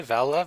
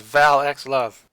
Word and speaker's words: Val x Love: Really, Val Love? I thought it was Val X Love. No, usually they don't pronounce the X here, so Val it's like, X Love. like Hunter x Hunter, for instance.